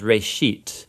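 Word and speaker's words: בראשית: it's called Genesis Genesis comes from a Hebrew word it's pronounced race sheet and it just means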